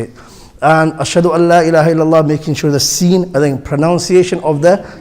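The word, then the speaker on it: أشهد أن لا إله: People pronounce a noon, where is a idgham there. When idgham happens in the Arabic, when you read Quran, the noon is not pronounced. So you read it ashhadu Allah, ashhadu an la ilaha illallah. The noon idgham is with a lam.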